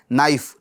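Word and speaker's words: knife: तो इसकी स्पेलिंग के अंदर के आता है। तो हम इसको के को क्या बोलते हैं भ? ये साइलेंट है। के नाइफ के अंदर के क्या है? साइलेंट है।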